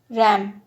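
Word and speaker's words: RAM: का एम ले लिया, तो एक नया वर्ड बन गया आर ए एम, रैम। तो ये एक नया वर्ड के रूप में प्रोनाउंस होने लगा।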